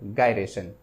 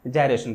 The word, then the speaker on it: gyration: आ जाता है कि डिफाइन रेडियस ऑफ गायरेशन या फिर जायरेशन। ठीक है, जो आपकी मर्जी है, जैसा आपका प्रोनाउंसिएशन है वैसा आप क्या कर सकते हो, इसको प्रोनाउंस कर सकते हो। मैं क्या पढ़ता हूँ? जायरेशन पढ़ता हूँ।